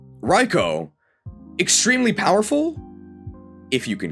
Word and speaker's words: Raikou: I do live in Japan. It's Raikou. Raikou.